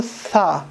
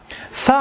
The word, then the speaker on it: ثا: مثلا دلته موږ وایو ثا. ثا هغه وخت ادا کېږي چې کله د ژبې سر د لوړو غاښو د سرو سره وموښلو. ثا، ثا.